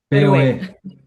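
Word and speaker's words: Petrohué: Um, this is Explora Lodge, and they are on a lake, Petrohue. Did I say it right? Petrohue? POE, Petrohue.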